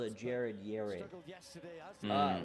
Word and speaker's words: Yared: that called a Jared Yarid. Uh well his name actually is y a r e daroey is not